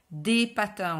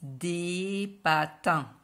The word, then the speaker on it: patins: au pluriel alors attention pour le pluriel par exemple ici des patins on prononce pas le s en prenant ce des patins sans prononcer le s